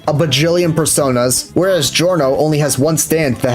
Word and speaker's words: Giorno: Which, by the way, why are they saying Giorno? It's Giorno, the I is silent.